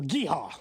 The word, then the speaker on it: GEHA: Or Geehaw, like Chris Jones said. that one time. GEHA.